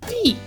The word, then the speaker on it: DiC: animation company called de I think it was pronounced dick as a kid but it's actually pronounced de and sometimes now whenever I look at the